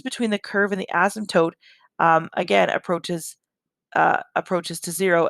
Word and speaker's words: asymptote: with 20-1 and so an asymptote and the p is silent an asymptote is a